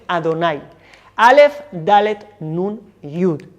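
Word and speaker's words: אדני: de las 4 letras, se empezó a pronunciar en su lugar otro nombre de 4 letras, que es el nombre Adonai.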